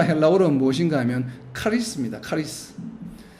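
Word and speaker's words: χάρις: 무엇인가 하면 카리스 입니다 카리스 그러나 헬라어로 발음이 카리스 의 크리스 크리스 크리스 우리 싸죠 크라이스트 예수님을 부르는 이름과 이음이 유사합니다 카리스 다한 어머니의 그래서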